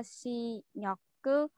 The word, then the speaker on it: 실력: Cái này là R với R gặp nhau là đọc thành chữ L nha.